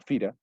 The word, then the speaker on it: Fira: torino y la zona central por actualmente se pronuncia fira espera que ocurre para que se den cuenta